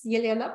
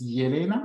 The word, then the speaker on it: Elena: So my name is Elena. And so it's not Elena, it's Yelena?